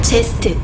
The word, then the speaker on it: Zest: And his opponent, whose name rhymes with crest. KT 롤스터 제스트.